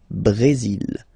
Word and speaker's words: Brésil: Okay, you will pronounce the final L here, and then remember accent aigu goes like E. Brésil.